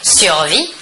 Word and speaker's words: survit: Le S et le T final de la terminaison ne se prononcent pas, mais s'écrivent.